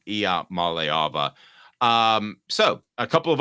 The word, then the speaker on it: Iamaleava: pronunciation there Caleb uh not great it's I Mala Mala I malava I was just kidding IIA malava um so a couple